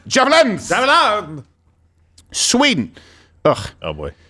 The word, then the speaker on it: javelins: It's pronounced javelins.